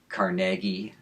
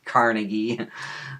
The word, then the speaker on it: Carnegie: Uh, one big example is was Andrew uh Carnegi. Uh, it's commonly mispronounced as Carnegie.